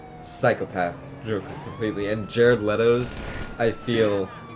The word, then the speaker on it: Leto: Leto playing The Joker it's that's how it's pronounced Leto Leto Leo no it's Leto I told you multiple times that it's Leto still pronouncing Le all